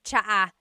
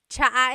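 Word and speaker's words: tsaa: And it's spelled ts aa aa. Cha. Cha. That's such a Tagalog spelling. I love it. There's the ts sound and then the double vowel uh pronunciation.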